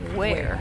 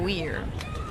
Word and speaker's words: Ware: Oh yeah, I learned that her last name is pronounced Ware, not Weir. What's it say, sorry? Abby Ware. It's Abby Ware.